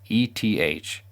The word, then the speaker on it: ETH: native cryptocurrency called ether abbreviated eth and pronounced eth a user needs at